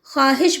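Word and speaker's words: خواہش: है वो मादुला है यहां पर ख्वाब नहीं पढ़ेंगे हम ख्वाब पढ़ेंगे खवा नहीं पढ़ेंगे हम ख्वाब पढ़ेंगे ख्वाहिश नहीं पढ़ेंगे हम ख्वाहिश पढ़ेंगे यानी कि वाव लिखा जाएगा लेकिन बोलने में नहीं आएगा इसके बाद वाव की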